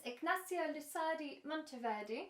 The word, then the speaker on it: Ignacio Lusardi Monteverde: a very special guest with me this is ignacio lusadi monteverdi have i pronounced it correct hello yeah perfect good and